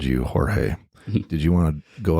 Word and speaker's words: Jorge: So, George, your name is spelled Jorge, which to some folks around here, not myself, but Troy believed it was Jorge.